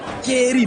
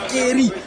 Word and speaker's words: keri: Chez nous, c'est dit keri, mae keri, avec K avant. Au lieu de G avant, c'est les keri qu'on prononce.